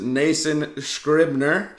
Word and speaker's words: Nason Scribner: you don't need the sh, but you're the closest I've got. Oh, hard there's a sh. there's definitely a sh. No, it's just SC. Okay.